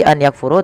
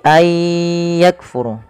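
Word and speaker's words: أَنْ يَكْفُرُوا: Maka ayya, cara membacanya bukan lagi an yakfuru, tapi ayyakfuru.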